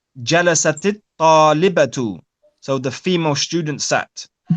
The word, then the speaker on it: جلست الطالبة: So it was جلست الطالبة, but as we said, when you have the ta on the end of جلست with the sukoon, and then we have the alif and the lam, it's then pronounced with a kasrah.